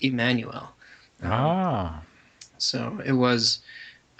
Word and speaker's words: Jmmanuel: It wasn't that J sound. It was a E sound. It was to pronounce the I, the letter I.